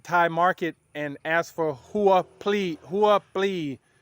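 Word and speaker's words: หัวปลี: market and ask for Hua please h-u-a plea b p l e e you have to pronounce the b and the P together please or you can just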